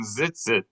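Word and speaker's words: ציצית: when I said pronounce Yeah. the Z like an S, that's only if you see a TZ, not if you see a TIZ.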